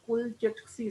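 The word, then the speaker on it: Kulchitsky: कुलचिट्स्की, कुलचिट्स्की, KUL, pronunciate खुद ही कर लें, काफी हार्ड सा नेम लिया हुआ है इन्होंने। अब ये बंदे ने नाम तो रख दिया लेकिन हमें मुश्किल में डाल दिया। कुलचिट्स्की, CHITSKY। कुलचिट्स्की सेल जो है ये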